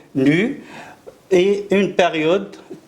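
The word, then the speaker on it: ν: Donc chaque onde est caractérisée par sa fréquence n au nu, ce symbole est prononcé nu, et une période t.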